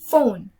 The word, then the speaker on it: phone: Next, so the combined consonant of P and H, it sounds like F, so it's phone, phone, phone.